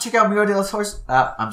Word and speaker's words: Historia: You don't even pronounce the H. Because that's not how Spanish works. Historia. Historia.